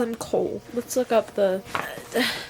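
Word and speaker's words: Chaol: I'm butchering this aderin adland how do you pronounce the guard's name Chow kale kale I'm going to call him Cole let's look up the c h a o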